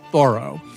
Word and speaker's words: Thoreau: New York Times, that we've been saying the name wrong all these years. He was known as Thoreau.